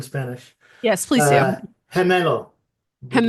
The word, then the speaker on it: gemelo: Would you allow me to take brief issue with your pronunciation Oh, please do. since I'm fluent in Spanish? Yes, please do. Uh, Gemelo.